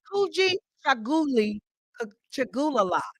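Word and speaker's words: Kujichagulia: And so the second principle, which is very big to me also, is called, it's pronounced Kuji Chaguli Chagulala.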